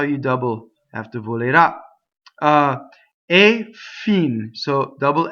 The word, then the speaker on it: volerà: So the future tense has an accent on the ultimate syllable, the last syllable. The ah is accented. So the O and the E are not accented, so they are closed.